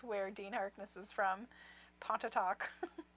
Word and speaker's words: Pontotoc: While you were talking, I was trying to pronounce where Dean Harkness is from. Pontotoc. Pontotoc. Technically Pontotoc, but Pontotoc.